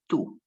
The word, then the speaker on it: tú: The pronunciation is exactly the same. It's both are pronounced tú. The accent is just to make the difference in written forms.